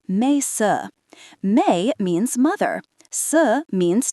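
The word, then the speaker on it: แม่ซื้อ: This is where Mae Sue enters, pronounced Mae Sue.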